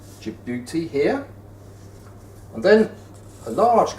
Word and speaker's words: Djibouti: there called your beauty which is spelled d j i b o u t i jabuti here and then a